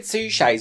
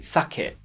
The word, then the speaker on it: Suchet: David Suchet's was a bit like that. RuPaul once had to do an advert on that podcast, and David Suchet starred in something, and RuPaul pronounced his name David Suckett.